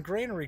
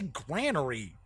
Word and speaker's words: granary: Furious is like, yeah, you're pronouncing granary correctly. I know, but I've heard people say granary.